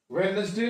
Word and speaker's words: Wednesday: Wednesday में भी D silent है.